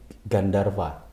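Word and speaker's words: गन्धर्व: Ya jadi dari bahasa sebenarnya dari bahasa Sanskerta yaitu Gandarwa. Kayak kalau V itu ya, jadi W dan V itu kan dibacanya ini ya. Jadi Gandarwa.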